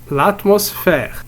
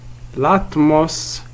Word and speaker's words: l'atmosphère: L'atmosphère. L'atmosphère. Ici nous avons faire. Alors le son F s'écrit ici PH.